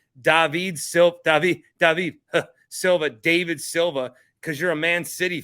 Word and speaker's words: David Silva: His name is actually pronounced David Silva, and he's a fucking Man City legend.